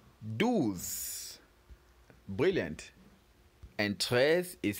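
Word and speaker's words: treize: And tres is spelled T R E I Z E.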